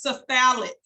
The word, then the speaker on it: cephalic: second vein in order which is pronounced cephalic s I'm sorry c-e-p-h-a-l-i-c cephalic vein that is the